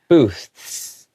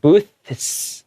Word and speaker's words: booths: But because it has an S, you can't really do that fully like that sound. So you have to go booths, okay? Kind of have to separate it, booths, like that.